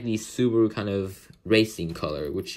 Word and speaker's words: Subaru: the suba subaru logo or uh as the japanese pronunciation subaru so yeah we can